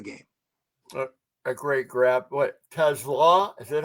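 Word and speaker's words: TeSlaa: The Lions rookie receiver has been asked about this countless times, guys, and it is Tesla with the accent on the second syllable, not like the automobile. Just think coleslaw, Tom.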